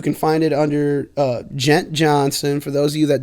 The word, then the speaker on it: Djohnson: NS o and gent Johnson the D is silent I know it's dumb